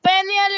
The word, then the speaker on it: peigne: Elissais se peigne les cheveux. Elissal se peigne les cheveux. Regardez bien les enfants s'il vous plaît. Ici on a nœud nœud. G + N se prononce se peigne.